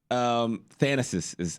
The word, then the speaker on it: Thanasis: Thanasis is how you pronounce it.